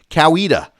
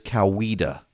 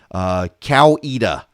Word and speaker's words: Coweta: would be amazed at the anger that is generated by mispronouncing Coweta for example Noonan I someone I was actually running a congressional campaign for candidate in Coweta County and he referred to it as cow EDA and you would think